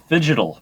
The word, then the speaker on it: phygital: Well, and talk to us about phygital products. Did I say it right? Phygital, the combination Phygital. between phygital or physical and digital.